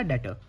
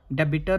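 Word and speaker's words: debtor: हमारे लिए क्या बनेगा, डेटर। बी साइलेंट है यहाँ पे, ठीक है, डेबिटर मत बोलना, डेटर बोलेंगे इसको, ठीक है।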